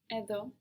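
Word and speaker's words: εδώ: Edo edo. Where is the accent on these words? Where is the stress on these words? Edo at the end.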